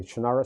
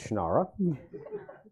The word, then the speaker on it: Shannara: fantasy author of the shinara series he pronounces different he's wrong it's shannara and i said mr brooks